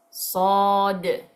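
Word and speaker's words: ص: Okay después tenemos dos letras graves una es sod sod s Okay con es un sonido de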